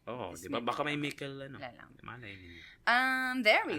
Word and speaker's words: Mickle: Thank you to Mickle, which rhymes with ghost pickle.